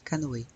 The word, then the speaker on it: canoë: Le canoë. Notice that the two dots above the E is called the tréma. Means we pronounce those two vowels separately. So we say O and then E, canoë.